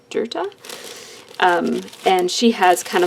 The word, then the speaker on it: Dirta: rocker theme and then I think it's pronounced dirta d RT a dirta um and she has